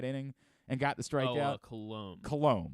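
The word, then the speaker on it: Coulombe: and got the strikes cologne that's how you pronounce the thing Danny colombe who showed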